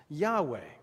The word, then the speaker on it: Yahweh: lord here is yhwh which we typically pronounce yahweh of course in biblical hebrew the vowels are missing in the actual text so we may not this may or may not be entirely accurate we just have to